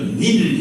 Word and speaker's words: 닐: 이렇게 되어 있죠이 나일강 우리가 일이라고 읽지만 그 이집트로 읽으면 나일 닐 이라 이해야 돼 닐 닐인데이 나일강이 하류로 내려오면서이